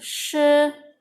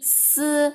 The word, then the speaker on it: si: Kemudian ada contoh yang keempat, ling i shi nian. Nah, ini salah, harusnya pengucapannya ling i si nian, itu bukan shi yang angka 10 tapi si yang angka 4 ya.